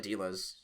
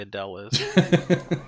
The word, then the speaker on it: Adeliz: I pronounce it Adilas. I mean, I'm just gonna assume that you're wrong because you're never right. But I don't know. It's actually Adele. It's actually Adele is.